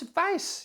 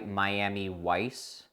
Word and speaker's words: Weiss: my son name is vice you see it is quite simple so to clarify you prefer to go by Miami Weiss it is pronounced vice vice really and you've never heard